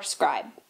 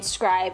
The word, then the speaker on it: Scribd: on Audible and or Scribd. Ha, did it again. Okay, Scribd. Hey guys, so first things first, an apology. I was saying scribe, and it's actually scribd, like ribbed, but scribd.